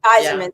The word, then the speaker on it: Iserman: Iserman, yeah.